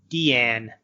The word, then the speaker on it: Diane: did the possibility of her name is actually pronounced Deanne but for you know